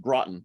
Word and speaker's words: Groton: you absolutely uh yes so so first it's pronounced groton but only people who live here know that